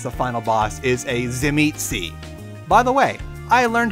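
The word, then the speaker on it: Tzimisce: guy that is the final boss is a Zim eetzi by the way I learned how to pronounce that right sorry guys already so the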